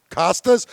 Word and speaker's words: Costas: And I'm like, my brain, and I go, Costas?